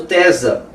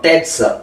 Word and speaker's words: Tezza: Porque essa obra do Tesa é uma obra, ou melhor, Tezza, né, que são dois Es, é uma pronúncia italiana, Tezza, é uma obra que